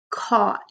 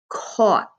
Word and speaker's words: caught: Remember, caught has a k. Aw. You don't hear the G, and you don't really hear the H. Caught. So AUGH is like all connected. Caught.